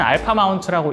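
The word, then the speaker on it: A마운트: 소니에서 E 마운트 말고 A 마운트라고 불리는 렌즈군이 또 있는데, 이 A 마운트는 알파 마운트라고 읽고, 대부분 이제 미놀타 카메라와 이제 과거 소니 DSLR, DSLT라고 부르는 카메라와 호환되는 렌즈입니다.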